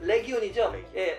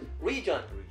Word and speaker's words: legion: 싶은 단어는 아까 legion 그게 리전인대 아까 레전이라고 읽으셨거든요 그게 이제 legion 그 로마 시대의 일꾼단 로마의 그 공사들의 그 하나의 그 조직 군단이거든요 그게 이제 라틴어로 읽으면 레기온이죠 보통 레기온이라고 합니다 근데 영어식 발음은 리전 그래서 보통 지금 그